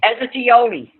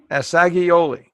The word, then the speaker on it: Assagioli: Pronounce his last name again for us, Beverly. Asiglioli. Assagioli.